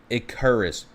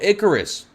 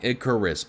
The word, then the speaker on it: Icarus: Since you can never pronounce my name correctly, it's Icarus. Oh, Icarus. Oh my gosh, I still said it wrong. Icarus. Okay, like the Greek myth.